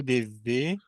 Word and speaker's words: devez: Vous devez m'aider. Vous devez, vous devez m'aider. Non, como é que eu falo isso aí? Vous Vous devez, devez, o Z não é pronunciado, então vous é, devez vous devez m'aider.